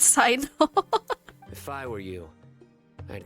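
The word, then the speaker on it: Cyno: So his name is pronounced Sino. For the longest time, I just read it as Sino. Apparently it's Sino.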